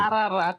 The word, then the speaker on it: Ararat: How You say Ararat, Okay, how you but it's pronounce it? Ararat.